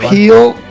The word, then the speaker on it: corporeal: and yet a corporeal It's a hard one. corporeal No, it's corporeal fine. That works. Yeah, that's how you say it.